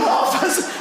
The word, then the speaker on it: half: I'll be back in a half a half a half and half has an L in it."